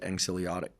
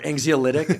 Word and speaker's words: anxiolytic: like it's our own affiliative as you said, anxiolytic. Is that how I pronounce that correctly?